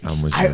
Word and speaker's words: Almaguer: wanted to hear how you pronounced it. Almaguer.